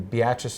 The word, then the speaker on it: Beatrice: a semi-pro league in the Jayhawk League in Beatrice, Nebraska, which is about 40 miles south of.